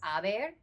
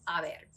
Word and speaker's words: haber: present tense conjugation of haber, okay? So the yo form of haber is H-E. So if you remember, quick tip, we don't pronounce the H's in Spanish, okay?